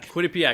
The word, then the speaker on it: Quinnipiac: Went to college here in in state also at Quinnipiac. And, uh, yeah, I've always lived here. Yeah. How do you pronounce that the college? Uh, Quinnip Quinnipak. Quinnipiac.